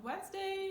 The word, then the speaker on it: Wednesday: Okay, I like this day actually, it's Wednesday, not Wednesday, or whatever you might try to say. Again, D is silent.